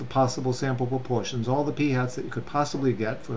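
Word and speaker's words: p̂: with that little symbol on top and it's pronounced p hat so p is for the whole population proportion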